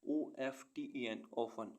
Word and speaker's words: often: ऐसे वर्ड्स जिनमें alphabet T silent रहता है. OFTEN often means प्रायः.